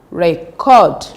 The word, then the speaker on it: record: Take note that the stress should be on the second syllable if it is verb. So it becomes present, present, record, object, import, suspect.